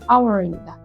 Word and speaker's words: hour: 요거 hour이고 hour이라고 읽으시면 안 됩니다. H 묵음이에요. 소리 안 납니다. hour입니다.